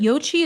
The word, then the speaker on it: Yo Qi: I am going to talk about the difference between yoga and chiong, but Yochi is spelled Yo Qi.